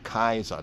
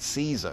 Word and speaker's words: Caesar: was called kaizaria kaisar caesar was not pronounced like that was pronounced as kaiser interesting when we then